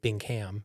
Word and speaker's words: Bingham: We never say Bingham, but it's spelled with a ham.